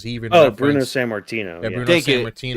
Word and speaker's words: Sammartino: Santarmino. No, I say his name wrong. He's inspired by Punk too, because he even Oh, Bruno referenced Sammartino.